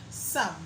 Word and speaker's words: some: Some. So S-O-M-E is pronounced some as the strong form.